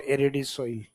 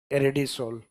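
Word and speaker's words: Aridisol: तो इसका मीनिंग है यहाँ इसमें हर जगह प्रोनाउंसिएशन क्या किया जाएगा? सोल, नॉट एरिडी सोइल, एरिडी सोल।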